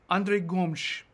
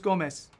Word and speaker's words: Gomes: Andre Gomes. Apparently that's the Portuguese pronunciation. Now, if you're Brazilian Portuguese, it's just Gomes. But Gomes. No one's doing it right. I'm just going to keep saying Gomes, though, because I sound